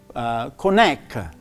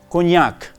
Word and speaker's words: cognac: I've heard people saying that as cognac. So it's not cognac, it's actually cognac.